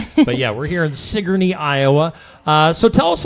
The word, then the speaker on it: Sigourney: Sigourney. Sigourney. Yeah, that's what it looks like. But yeah, we're here in Sigourney, Iowa.